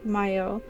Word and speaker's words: Mayo: Sligo the name is from the Irish mahio pronounced Mayo much like the continent is a mountain on